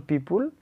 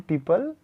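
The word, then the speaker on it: people: मे है तो मे लिखेंगे, मे, यहाँ पे एक्सक्लामेशन मार्क है, यहाँ पे गुड लिखा हुआ है, यहाँ पे पीपुल बोलते हैं उच्चारण में, बट पीपल होता है, पीपल लिव लॉन्ग, ठीक है।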